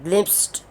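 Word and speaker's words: glimpsed: और ग्लिम्प्स्ड, अब यहाँ पे देखें ED लिखा हुआ है स्टूडेंट्स के लिए, लेकिन जब हम इसको बोलते हैं, प्रोनाउंस करते हैं, ख़ास तौर पे कनेक्टेड स्पीच में, तो ये D नहीं बोला जाता है, इसको हम T बोलते हैं, ठ ग्लिम्प्स्ड।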